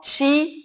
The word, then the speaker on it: Qi: or Chinese martial arts is called Chi it's spelled Qi or sometimes it's also transcripted uh chi so please share about